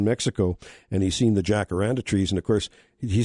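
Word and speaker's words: jacaranda: Uh he had been down in Mexico and he's seen the jackaranda trees and of course he says down in Mexico the J is pronounced like an H. So it's hakaranda, I guess.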